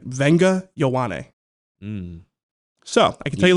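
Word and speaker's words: Vega Ioane: 30 visits, and Penn State interior offensive lineman Venga Ioane is one of the early visitors. I had to text Fran to make sure I got that pronunciation right. Venga Ioane.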